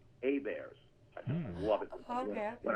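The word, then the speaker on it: Heberts: And people will say, how do you spell A-Bears? I say, it's spelled just like it sounds, H-E-B-E-R-T-S. So anyway, Right.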